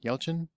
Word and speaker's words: Yelchin: Yelchin. Yelchin, thank you.